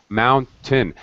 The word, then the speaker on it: mountain: pronunciation mountain mountain mountain mountain the second syllable is just t mountain that's better Mountain it's very fast first syllable stress second syllable is unstressed syllable it just sounds like